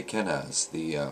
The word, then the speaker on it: Kenaz: Well, I'm sorry, it always was, but people used to say Kenaz, which is an alternative spelling and pronunciation.